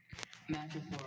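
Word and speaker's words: madrepore: Madripoor. Are there any alternate pronunciations? Just the one, Madripoor. Madripoor. Madrepoore.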